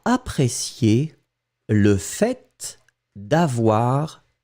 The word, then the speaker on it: fait: Faites attention, je prononce le fait, je prononce le T. Hein. Certaines personnes ne prononcent pas le T, le fait, mais souvent on va le prononcer.